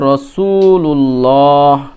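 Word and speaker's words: رَسُولُ اللّٰه: হা জের হি রসুল এখানে যেহেতু ওয়াফ করবো সেজন্য রাসূলুল্লাহ পড়বো তাহলে র জবর র সিন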